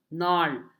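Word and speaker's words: gnarl: know next is Nar g is silent Nar it was a gal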